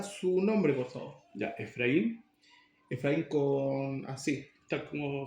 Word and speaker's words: Efraín: Ya, Efraín, Efraín con así. tal como se pronuncia. Efraín Efraín con acento ahí.